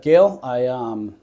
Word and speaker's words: Gehle: How do you pronounce your last name? Gehle? Gehle. Yeah. Like Gail. It's not spelled that way, but that's how you say it? Yeah. Okay. Here with Gehle.